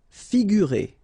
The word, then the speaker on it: figurer: Figurer. Okay, so here you get this G and U together without any vowel after, so you will pronounce this combination gu, sorry. Figurer.